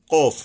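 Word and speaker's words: قاف: হাতের নয় বড় কফ কফ এটা কিন্তু কাফ বলবো না আমরা এটার উচ্চারণটা কিন্তু শক্তভাবে হবে যেমন এক আরেকটা হলো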